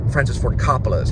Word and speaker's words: Coppola: We watched New York Stories together, the one with and now it's pronounced Coppola. Francis Ford Coppola is how they say it.